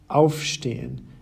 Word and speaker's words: aufstehen: Separable verbs, on the other hand, have their stress on the separable prefix itself. Ankommen, aufstehen, and zuhören.